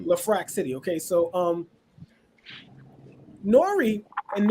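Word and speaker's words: LeFrak City: from left rack city lefrac city okay it's pronounced lafrac I know his ass says left rack it's pronounced La Frack City okay so um Nori and Nori's another one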